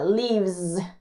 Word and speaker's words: Lives: El verbo live, cuando lo ponemos en la tercera persona, se le añade la S, se pronuncia como una Z. Lives, lives, como si fuera un zumbidito de una abejita.